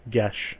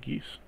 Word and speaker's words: Geese: Also, geese is pronounced gesh, not geese.